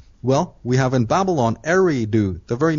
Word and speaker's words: Eridu: For instance, the Babylon was there was a great city called Eridu. Right. On the Tigris and Euphrates River. Eridu. Eri, because Eridu is spelled E-R-I-D-U.